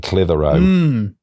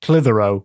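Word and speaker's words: Clitheroe: they swept right past clithero which is really only funny written down yes and we can't say why it's funny so just see how it's spelled it sounds like if you think about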